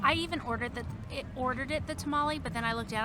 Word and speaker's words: tamal: So, but let's do the I called this a tamale. I know, but for some reason it's called a tamal, T-A-M-A-L. I don't know. I even ordered it the tamale, but then I looked down.